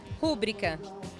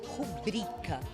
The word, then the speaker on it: rubrica: Rúbrica. E aí, tá certo ou tá errado? Ai, não tá não. Essa palavra, o certo é rubrica. Ela não tem acento.